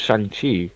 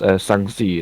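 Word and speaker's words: Shang-Chi: you look at like oh it's shangi and I'm like no it's s it's it's szi is like ah cool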